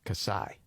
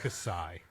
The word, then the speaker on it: Kasai: Kasai. I think that's how you say it. It's like when you're about to cough and you sigh instead.